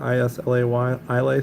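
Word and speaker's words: Islay: Anyone out there like I believe it's pronounced. Correct me if I'm wrong. Isla Ylay Scotch. Definitely not a fan. I got a friend who's a big logulan fan. It's a region in Scotland.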